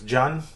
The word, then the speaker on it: Can: uh my name is john it's spelled can but pronounced john because it's a turkish name because i was born